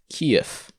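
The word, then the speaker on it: Киев: capital of ukraine is written and it is pronounced kiev and this is the ukrainska name and it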